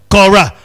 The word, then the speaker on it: Korah: Or in the Old Testament, it's pronounced as Korah.